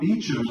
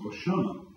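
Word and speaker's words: Beauchamp: Tom Beichchum, EA U- M, it might be pronounced BAM, is one of the most notable bioethicists in the world.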